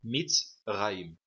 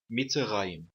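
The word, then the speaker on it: מצרים: A palavra Mitzrayim, aqui o Hirak é uma vogal curta e o Sheva, que vem depois do Hirak, será mudo, Mitzrayim, em vez de pronunciar como Mitzrayim.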